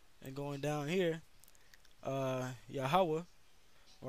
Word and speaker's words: Yahweh: pronounce it it says yahweh okay it's uh right here it says jehovah but there's no j there's no e or no v and no o's in the hebrew all right when you